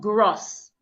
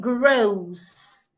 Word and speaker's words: grows: example we have grows this is not gross it grows grows now let's practice together